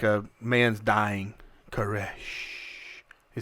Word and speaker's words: Koresh: say it like a like a man's dying caresh he said it was just freaky that's the